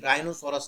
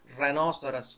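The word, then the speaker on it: rhinoceros: खाना खा के आए राइनो सोरस एक सींग वाला गेंडा नहीं राइनो सोरस नहीं होता रेनो सरस होता है वो रनसर यानी कि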